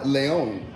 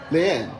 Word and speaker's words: Leon: Two Perms is Leon. Leanne? You actually said it right the first time.